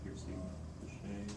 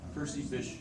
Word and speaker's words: Percy Bysshe: Piercy, I don't know how to pronounce it. Piercy Bichet. Ah, Percy Bysshe Shelley.